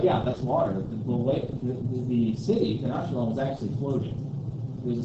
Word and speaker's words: Tenochtitlan: Or sometimes pronounced Tenochtitlan.